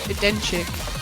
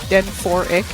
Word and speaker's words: Denchik: Yeah, not seeing as much of Denchik as we saw last week. At least I think that's how you pronounce his name, like Den 4Ik.